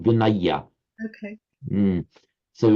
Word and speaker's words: Vinaya: many Thais, when you get the aya ending, many Thais pronounce it as an aya, Oh, okay. even though in writing it's an aya.